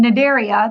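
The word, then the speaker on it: Cnidaria: animals yeah and then nidaria the C is silent it area is jellyfish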